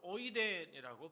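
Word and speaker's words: οἶδεν: 헬러로 오이덴이라고 발음하는데요.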